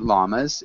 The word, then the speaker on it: llamas: Okay, and Emilio, can you repeat llamas? In English, we do pronounce that double L.